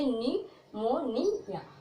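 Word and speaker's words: pneumonia: पी के बाद जब एन आया है तो पी का अर्थ है पी जो है वो साइलेंट रहेगी, ठीक है। पी कैसी रहेगी? साइलेंट रहेगी। तो इसको पढ़ेंगे निमोनिया, तो इसका बोलेंगे निमोनिया, ठीक है, निमोनिया।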